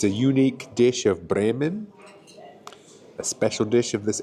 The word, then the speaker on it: Bremen: Good evening from Bremen or Bren as the locals uh pronounce it.